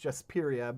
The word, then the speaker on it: Jasperia: I have to say it that way because it's pronounced Jasperia, but you can't say Jasperia without just saying Jasperia.